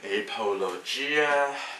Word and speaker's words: apologia: The word that you were failing by so much to pronounce would be apologia.